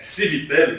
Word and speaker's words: Civitelli: agora você falou em Fábio Civit aí é civitelli tá pronúncia e Fábio civitelli num